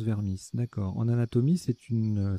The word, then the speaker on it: vermis: composé mettre que cuisinier vermisse en anatomie ça se prononce vermisse d'accord en anatomie c'est